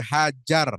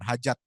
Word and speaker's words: Hajar: Berjalan mengelilingi Ka'bah 7 putaran, dimulai dari hajar, ya bukan hajat. Ya, nanti dibacanya buang hajat.